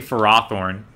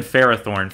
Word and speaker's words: Ferrothorn: better about reading it i reject that pronunciation too christine i refuse to believe it's actually for raw thorn it's always been ferrothorn for me same goes for pharisee